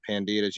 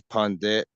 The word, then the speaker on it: Pandit: He particularly questioned the Pandita's use of the word. What's that word? Bhavani Bartu. Also, it's called Pandit. You don't pronounce the A. Oh, it's Pandit.